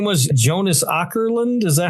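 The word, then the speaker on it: Jonas Åkerlund: Jonas Ourland.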